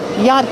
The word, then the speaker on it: yacht: The ch is silent. Don't pronounce the ch.